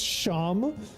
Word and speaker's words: Sheem: Like he was like sealed away, and he had some sort of relationship with, I think his name was Sheem, pronounced Sham.